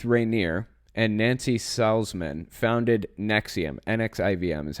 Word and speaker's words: NXIVM: don't really want to get too deep into Nexium because it's it it is actually very very